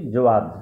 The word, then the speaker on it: Jawad: ঘূর্ণিঝড়ের নামকরণ দেওয়া হয়েছে জাওয়াদ, JAWAD। প্রোনাউন্সিয়েশন বা উচ্চারণ আমরা করছি জোয়াদ, JOWAD।